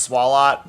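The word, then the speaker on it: Swalot: And I know it's probably intended to be pronounced swallot, but swallow works better and it fits the French mustache.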